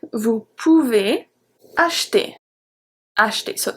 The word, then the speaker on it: acheter: Vous pouvez acheter. Acheter. So CH, like I said, make the sound sh, sh, H.